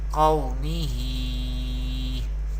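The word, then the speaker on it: قومه: We pronounce lean letters, lean rule, without stretching or without sudden pausing the voice. We recite like this, qawmihi.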